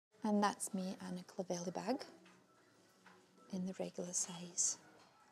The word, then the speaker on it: Clovelly: I'm also after the Clovelly tote bag. I've just been corrected by my sales assistant the way I pronounced the Clovelly bag. So it's a Clovelly actually.